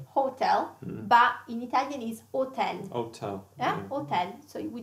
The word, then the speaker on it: hotel: And the H in Italian is mute. So we don't pronounce it.